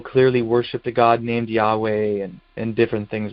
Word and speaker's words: Yahweh: And then he puts in parentheses, thought to be pronounced Yahweh with the accent on the second syllable.